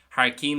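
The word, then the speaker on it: thar cionn: Again, I know it looks like Har Kyun. In Connacht, it's going to be more so pronounced Har Keen, and it tends to be used more in Connacht.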